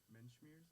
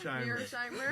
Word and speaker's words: Mearsheimer: I guess also Menschmeers, is that how you Mearsheimer. Mearsheimer, that's how you say his name.